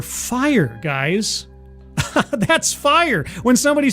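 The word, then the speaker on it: Phyre: It's spelled P H Y R E. You are fire, guys.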